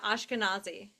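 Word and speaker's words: Ashkenazi: about different things um is that Ash canazi kazi Is that how you say it? Uh, yeah. Ashkanazi.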